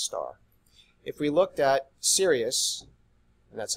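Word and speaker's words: Sirius: a main sequence star if we looked at Sirus and that's how you pronounce that shirely can't be serious I'm serious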